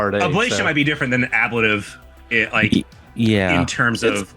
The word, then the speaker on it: ablative: Ablative.